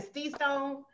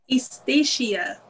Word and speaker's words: Estacia: Stisha Stone, you have to correct me on the pronunciation, because I'm used to saying Stee Stone. You know, and I'm Black Girl Magic. So, you know, I make up some words and I'll be Station. So, how do you pronounce your name? Estacia. Estacia. Yeah, four syllables. I'm Station. That is so wrong.